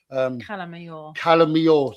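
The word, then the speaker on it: Cala Major: So Calamayor. Mayor is spelled Major. Calamajor.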